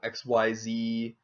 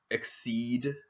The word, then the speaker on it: Xyz: an XZ Monster uh people pronounce it differently because of the way it looks it's it can be called XYZ exceed or XZ and what it does